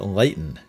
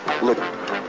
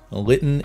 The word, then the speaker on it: Lytton: Funny note, when I played this game as a kid, I pronounced it Lytton, and I've gone through my entire life pronouncing